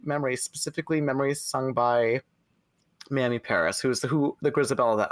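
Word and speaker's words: Mamie: I really dig Memory, specifically Memory sung by Mammy Paris, who's the Grisabella that I saw. Mammy, is it Mammy?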